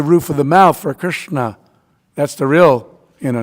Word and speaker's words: Krishna: of the mouth for Krishna. That's the real you know not Kishna. I've heard I've had god brothers you know it's Krishna but you know anyway.